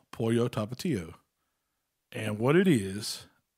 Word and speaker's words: pollo: Pollo tapatio. So I've learned it. Not polo. The gringo way is polo, but it's pronounced pollo.